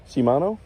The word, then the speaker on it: Shimano: I don't know if I'm pronouncing that right. Amy, is it Shimano? Shimano.